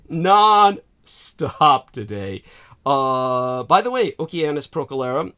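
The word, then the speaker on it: Oceanus Procellarum: By the way, Oceanus Procalera says Latin pronunciation, the hard Kuh, as I thought.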